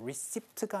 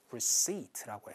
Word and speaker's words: receipt: receipt가 아니고 receipt라고 해서 이렇게 발음을 해주시면 되세요.